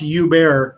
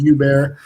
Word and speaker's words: Hubert: Basically, I'm Hubert, and it's pronounced Hubert, actually. I As in like, hey, apologize. Hubert. I'm Belgium. It's a French thing. H and T are silent.